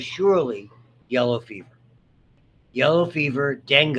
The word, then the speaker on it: dengue: Yellow fever, dengue is the way you pronounce that, by the way.